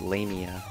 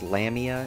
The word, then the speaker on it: Lamia: block the arrows and her name should be pronounced lamia you might have heard hc bailey pronounce it as lamia in final fantasy lps but when have you ever trusted hc bailey on pronunciation anyway we saved the